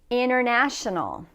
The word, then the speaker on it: international: take a look at the first ones inational International any word that has inner in it like inner section the te is usually dropped when we're speaking in